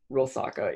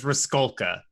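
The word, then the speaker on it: Rusalka: Rilsaka, it's a mythological creature that's like a drowned woman. Oh, I hadn't heard it with that pronunciation. I was right. I always heard it as Riskolka.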